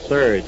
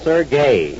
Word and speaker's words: Serge: his name is not Serge I told you over and over to stop calling him Serge s e r g e is Serge it's pronounced sergay well anyhow he never